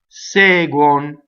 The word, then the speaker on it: seguono: Seguono, segue, seguo. All of those verbs, same thing. Close D at the beginning. It's stressed, but closed. Also, notice that guon, because it's on the unstressed, is a closed, right? So it doesn't follow the uo principle. Well, it's not on a stress anyway, right? But you see a lot of uo where the o is open. So don't open here.